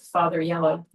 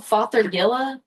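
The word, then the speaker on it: Fothergilla: Are you calling it father yellow? Huh? What are you saying? It's called fathergilla. Like g i l l a.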